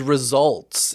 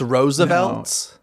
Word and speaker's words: RSVLTS: at laughing place so is that how you pronounce it it's cuz it's like rsvlts or something yeah it's without the vowels I thought it was results it's Roosevelts so so that happens to